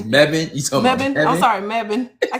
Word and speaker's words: Mebane: Is that how you pronounce it? It's Mebane.